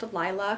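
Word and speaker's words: Leila: It is written by, I think it's pronounced Lila, because I've been listening to her on like various podcasts.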